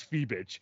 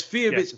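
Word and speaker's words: Fiebich: prediction by the way I had to like double check the the feebeck um pronunciation it's fee bit so me and J been both been di wrong okay it's Feit okay we that's that's good I feel like we were saying it right off pod and then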